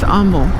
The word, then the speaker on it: Humble: the point welcome to Umble Texas it is pronounced Umble tell someone's out of town I'm I'm looking